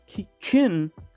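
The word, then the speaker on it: Qin: And Chin, it's a Q.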